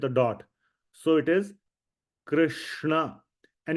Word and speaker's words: Krishna: Remember, we had the Hare Krishna Mahamantra right here. So Krishna, we all know this is pronounced as Krishna.